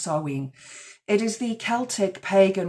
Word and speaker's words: Samhain: on the wall Sween and they pronounced it Sam Hayne it's spelled Sam ha s a m h a i n but it's pronounced saen it is the Celtic pag Festival of the